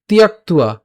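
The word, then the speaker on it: ত্যক্ত্বা: এরপর তিয়াক্তুয়া, তিয়াক্তুয়া। এখানে খেয়াল করি, এখানে ত আছে, জফলা আছে, সো ত এর সাথে যখন জফলা উচ্চারণ কি হয়? ইয় হয়, তখন এইটাকে আমরা একসাথে তি লিখতে পারি, তি লিখতে পারি।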